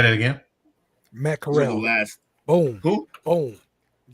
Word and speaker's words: Corral: when he said it, I thought like the pronunciation was wrong. It was mackerel or something. Yeah, it's what it sounded like mackerel, like he was adding an extra syllable to mackerel. Matt Corral.